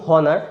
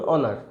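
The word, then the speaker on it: honour: তো আপনি নিজেও চেষ্টা করুন আর কি, যে একবার বলুন হনার, একবার বলুন অনার, কোনটাতে আপনার গলাতে, আপনার জিভেতে, আপনার শ্বাসেতে কম কষ্ট হচ্ছে।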